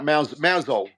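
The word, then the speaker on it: Mousehole: we mouse hole mouse hole that's it m mouso mouso that's it by pensant yeah yeah we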